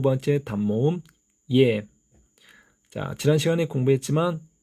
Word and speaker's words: ㅖ: 첫 번째 단모음 이, 그리고 두 번째 단모음 예. 지난 시간에 공부했지만 예 발음을 하실 때 혀의 위치가 중간에 위치한다는 거 기억하시기 바랍니다.